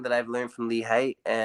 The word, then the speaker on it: Haight: People pronounce it Haight. It's not Haight. It's Haight. I'm a lover, not a hater.